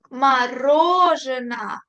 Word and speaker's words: мороженое: Мороженое. Acento en la O que está en negrita. Las otras O las leo como una A.